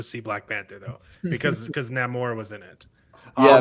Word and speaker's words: Namor: Well, I think Mexicans were allowed to go see Black Panther though, because Namor was in it. Yeah, not Namor. Namor. Namor. It's not Namor. You gotta roll your R's.